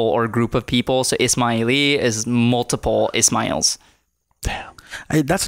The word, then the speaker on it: Ismaili: Ismaili. It's like Ismail. And Persian in Farsi, you use the I at the end typically can refer to like multiple or group of people. So Ismaili is multiple Ismails.